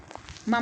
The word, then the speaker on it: मम: मम में मैंने आपको बताया था कि हलंत नहीं लगेगा, गलत छपा हुआ है, तो हलंत हटा दीजिएगा आप। मम माने मेरा, तो हलंत नहीं लिखेंगे, मम इस तरह से उच्चारण करेंगे, मम।